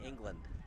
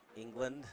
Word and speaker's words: England: England, not England, and then England. It's always weird, the English language, because technically it's written land, but you're supposed to pronounce it Lind.